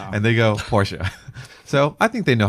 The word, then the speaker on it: Porsche: Is it true that Porsche is a two-cllable name?